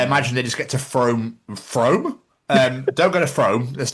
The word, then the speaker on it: Frome: I imagine they just get to Frome? Don't go to Frome, that's near Bath. You don't need to go there, which is actually pronounced Froome, but still.